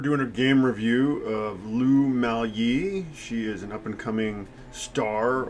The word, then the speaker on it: Lu Miaoyi: Lu Miaoyi. Lu Miaoyi.